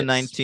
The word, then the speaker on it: Swati: I want to say it's like Swathi, but it's spelled Swati. But I think they She's say the it's Swathi.